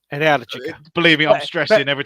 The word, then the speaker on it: Energica: Energica. Stress on the second syllable. Energica.